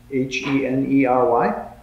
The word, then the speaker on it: Henery: You should know that next week our supply priest will be Father Henery, I think is the way we pronounce his name. Kind of? Henery? H-E-N-E-R-Y? Henery, yes. Henery, yeah, Henery.